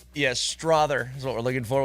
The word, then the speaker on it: Strother: You don't even know how to spell it. STRAWTHU. No. STRAWTHER. There you go. There you go. Strother. Yes, Strother is what we're looking for.